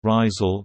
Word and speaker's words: Rijsel: Lille, French pronunciation, Lille, listen, Dutch, Rizel, Rizel, West Flemish, Rizel, is a city at the northern tip of France, in French Flanders.